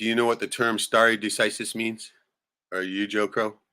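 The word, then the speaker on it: stare decisis: ] is that right spelled s t a r e like stare but pronounced St right n d c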